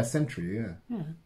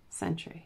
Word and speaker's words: sentry: Yeah, sentry, yeah. So they bump into the sentry, you know? Century. Am I saying it right? No, you're giving it more syllables than it needs.